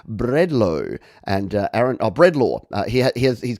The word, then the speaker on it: Bredlo: and uh aaron uh breadlaw uh he has he's given me the phonetic pronunciation before and it is bread law i remember from last time when i called him bread low bread law uh this